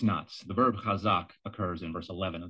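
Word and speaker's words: חזק: also mentioned increase videos you continue to mispronounce these roots based on your misunderstanding of a 19th century transliteration convention the word is kazak you look at the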